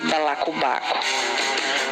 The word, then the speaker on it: balacobaco: Qual a sílaba tônica de balacobaco? Bom, imagine chamando no portão balacobaco. E dessa forma você descobre que na palavra balacobaco a sílaba tônica é o ba.